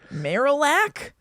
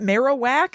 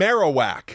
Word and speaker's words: Marowak: Possibly some weird pronunciations. I'm sure. Oh, I can't wait. Marilac, is that Marowak? Is that Marowak?